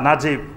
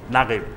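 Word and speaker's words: نجيب: তে ঠিক আরবেরা মিশরী লোকেরা লেখে নুন জিম। জিম ইয়া বা নাজিব। কিন্তু উচ্চারণ করে নাগিব।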